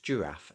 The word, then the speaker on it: giraffe: The giant giraffe gave the angry goat a generous gift. So let's break that down. Giant, soft G thanks to the I. Giraffe, soft G once again thanks to the I.